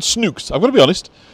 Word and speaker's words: Snook: Now, at first I thought they were called Snooks, I've got to be honest. But this one seems to rhyme with book, so I think it's Snook. Snook and book. So I think that's our pronunciation.